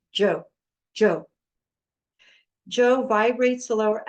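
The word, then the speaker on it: 九: going to chant ju which is the number nine in Chinese it's pronounced Joe Joe Joe vibrates the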